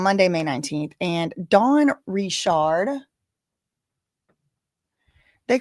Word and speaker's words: Richard: because my mom is grandpa's a Rishard. So, um that's how we say it. It's not Rashard, but I don't know how she says it. However she says it, y'all can say it like that, but until I hear her saying it with my own ears, I'mma probably say Rishard.